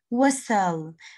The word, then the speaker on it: whistle: Again, I can whistle. Again, a T here is silent, silent, silent.